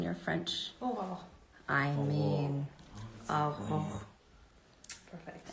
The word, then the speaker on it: Aurora: Oh, I mean, Aurora.